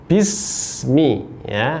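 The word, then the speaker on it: بسم: Bismi, hati-hati pengucapan huruf ba, ba berharokat kasro bertemu dengan sin sukun.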